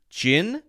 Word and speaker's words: gin: So this would be gin, which is the same pronunciation as the one that starts with a J.